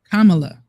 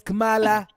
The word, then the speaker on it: Kamala: you sound like Trump mispronouncing her name is pronounced kamla okay that that was GMS it's it's Cala that's all we're going to say it's Kamala I'm saying it the way her National or